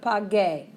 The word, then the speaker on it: pague: But what's the infinitive of pague? Pagar. So we can't just change it to the opposite of what we know. We need to throw in that U to maintain that hard G sound.